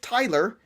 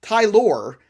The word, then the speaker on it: Tylor: And his name isn't Tyler, and it's not Taylor. It's Tylor. And it's Tyler McGill, and I know it's Tyler, but it's Tylor.